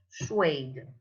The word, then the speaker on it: suede: a s u e d e and you pronounce suede suede gum or some suede right okay say